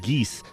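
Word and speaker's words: geas: you say it oh I I I said geese saying the geese are really interesting this time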